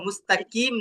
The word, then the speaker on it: مستقيم: এই যে মুস্তাকিম শব্দের মধ্যে একটা কফ আসছে, এই কফটাকে কিভাবে উচ্চারণ করবেন? মুস্তাকিম না মুস্তাকিম, কিভাবে হবে? কুইম মুস্তাকিম। হ্যাঁ হ্যাঁ, একদম জিহ্বার গোড়া থেকে।